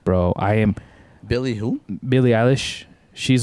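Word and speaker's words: Billie Eilish: you you know uh billy alice is how you say her name yeah yeah english so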